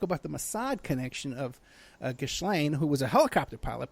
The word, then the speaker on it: Ghislaine: And Ghislaine, the daughter, and by the way, everybody complains about the name, how I pronounce that, but the thing is, that's how